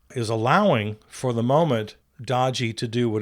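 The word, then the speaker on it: DOGE: And I'm the only one who pronounces it correctly. It's pronounced Dodgy.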